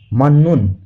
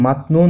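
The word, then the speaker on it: 맞는: তাহলে এখানে সঠিক উচ্চারণ হলো মান্নুন। মান্নুন শব্দের অর্থ সঠিক। আমরা যদি মাতনুন উচ্চারণ করি তাহলে আমাদের উচ্চারণটি ভুল হবে।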